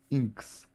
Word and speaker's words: INXS: Inks say we're listening to some inks.